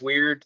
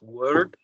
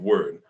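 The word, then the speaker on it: Wyrd: um I believe it's called the web of weird did I say it right yes uh most people call it the web of weird the proper translate or proper pronunciation is word uh we web of word okay well because it it seems to have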